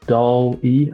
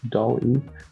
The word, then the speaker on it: DALL-E: What I've been looking at is DALL-E. I think this is how it's pronounced, DALL-E.